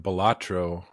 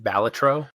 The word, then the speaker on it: Balatro: Well, the designer of Balatro won't tell us what it's supposed to be pronounced as. Balatro or Balatro. He accepts either one.